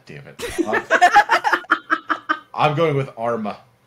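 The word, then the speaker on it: Armagh: I'm going with Arma. It's not, but I'm going with Arma. This is Arma. They fucked it up. Good enough. That is actually shockingly close to the Irish pronunciation.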